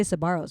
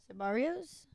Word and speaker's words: Sabaros: I love that she goes, When did you learn to say Sabaros right? Sabaros? What Just did I keep say? going. No, Sabaros is correct. You're saying it right now.